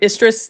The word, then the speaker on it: Istres: And when those deployment orders hit, we were going to Istres, the English pronunciation in the south of France.